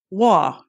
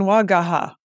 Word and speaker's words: Waugh: My maiden name is Scottish, and so it's Waugh, W-A-U-G-H. Oh yeah, I spent my whole life with people calling me Wagaha.